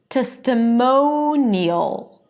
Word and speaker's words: testimonial: Testimonial. Ne-y'l. Editorial. And notice that in all of these words, the stress is on the one syllable before the suffix, right?